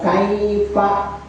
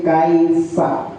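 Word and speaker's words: كَيْفَ: Kai ya kai kae kae kaifa fa harus keluar angin fa bukan kaifa bukan kaifa tapi kaifa kaifa iya kaifa seperti kita mengucapkan maaf atau TV gitu kan ya iya fa harus kelas Ya.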